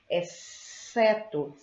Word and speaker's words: exceto: Observem que eu tenho duas consoantes, o X e o C, mas na pronúncia, no som, ele apresenta apenas um, exceto, tá?